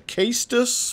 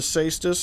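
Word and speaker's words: Cestus: item here the seistus most people call it the case dis but i'm pretty sure it's called the cystis i'm pretty sure that's the proper way to say it and we can throw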